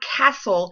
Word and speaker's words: castle: We're talking about the silent T sound, as in castle. If you listen to the word castle, you do not hear the T sound.